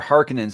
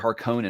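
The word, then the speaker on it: Harkonnen: see the the harcons you say harkonens or Harkins because I've always said harkonan and this movie's finally got me starting to say harkening uh I I say Harkin I um so I've had both versions of the audiobook the 93 George guidel version which has hard Conan but then I had the new one with Simon Vance the extended cast that says they say Harkin this is Harkin and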